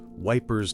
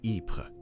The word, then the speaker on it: Ypres: Let's delve into the trench newspapers, like the famous Wipers Times, named for the British soldiers' mispronunciation of Ypres.